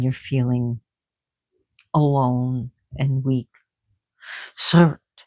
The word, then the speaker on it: Surt: Surt, if you can roll your R's, that's great. Surt.